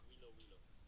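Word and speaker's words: Huilo Huilo: I don't know how to correctly pronounce it, but it's Huilo. So something like Huilo. Yeah, they don't do the H's though, so it's Wilo Wilo.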